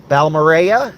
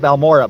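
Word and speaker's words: Balmorhea: to stop in Lake balmorea it's you think you'd pronounce it balora but it's not uh so we'll stop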